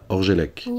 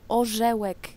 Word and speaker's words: Orzełek: Jim Votard, Mathilde Ganancia Carolina Orgelek, ja pierdolę, nie tak się wymawia Carolina Orzełek.